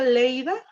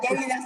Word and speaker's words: Lleida: ¿Se pronuncia Leida? ¿Qué les digo yo? O sea, si yo reprobé geografía de México. Lleida se pronuncia. Lleida. Mm. Ah, en Tarragona. Lérida, ok. Bien. Lérida. Lleida en castellano, Lleida en catalán.